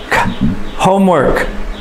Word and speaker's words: homework: cook dig do homework homework home garden the stress is on the first syllable homework garden can you